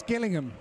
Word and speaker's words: Gillingham: Gillingham, it's Gillingham.